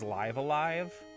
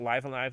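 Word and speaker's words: Live A Live: The only one that's not is Live Alive, which, it's on Switch, and the Switch version's available physically.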